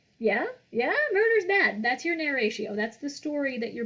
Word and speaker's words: narratio: Step 2, narratio. Just spell it like narration, but without the N at the end.